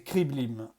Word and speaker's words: Kreeblim: Mon nom, mon vrai nom, c'est Kriblim. Enfin, pas exactement, mais pour un esprit humain et une langue humaine, c'est la prononciation qui s'en approche le plus.